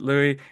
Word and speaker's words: Louis: it Lois was it Louie and then he said what did you say like Lou Vuitton like Louis Vuitton exactly that's the one so um where are you calling in from Louie I'm actually from Sydney